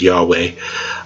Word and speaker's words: Yahweh: But in the modern we pronounce it Yahweh usually.